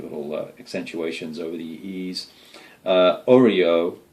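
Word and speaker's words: Oeroe: Oreo, it's kind of like an Oreo cookie, Oreo, and the dwellers in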